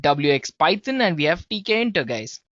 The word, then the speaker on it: Tkinter: Python and we have TK inter yes it's spelled as TK inter right so it's t k i n t e r guys well among all